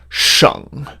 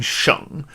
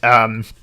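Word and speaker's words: 省: So there's a character that is normally pronounced sheng, and it means like a province, in China or maybe in Canada or something, sheng. And sometimes, though, it is pronounced xing.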